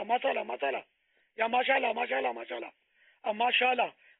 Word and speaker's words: ماشاء اللہ: بھی تو نہیں آتا نا، ہمارے یہاں تو مسالہ مسالہ مسالہ یا ماشاء اللہ ماشاء اللہ ماشاء اللہ، اب ماشاء اللہ مسالہ،